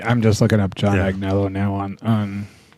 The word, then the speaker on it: Agnello: Is it John Agnello? That's what this a g n e l l o so we're going to say it's Agnello.